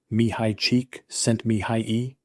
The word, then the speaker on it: Mihaly Csikszentmihalyi: It's pronounced Mihaly Csikszentmihalyi.